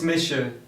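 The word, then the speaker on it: Is mise: say my name is in irish absolutely it's misha it's misha you can give it a try at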